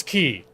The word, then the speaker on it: Quay: up I Google it how do I pronounce Quay practice key it is key key you hear pronounce as as Quay a lot or qu